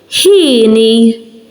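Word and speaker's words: hieni: But here, you're going to hear it. Hini means happy.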